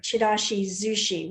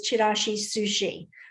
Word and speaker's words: Chirashizushi: As you can see, I use the Z here, Chirashizushi, which is the way the Japanese pronounce this dish. Sometimes you see it here as Chirashisushi, but this is the correct pronunciation.